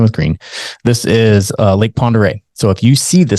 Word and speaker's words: Pend Oreille: before who called it Pend Oreille. It's a French word, P-E-N-D space O''Reille. Pend Oreille.